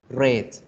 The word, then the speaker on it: read: la pronunciación run cambia la letra pero la pronunciación y la misma run run rights cambia completamente road pero ejemplo el verbo read red hit hits foods books todos esos verbos ni